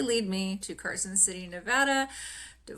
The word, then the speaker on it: Nevada: Well, um, when you were in Nevada, um, I'm curious, uh, the how would you describe the overall vibe of not only Sorry, let me correct myself.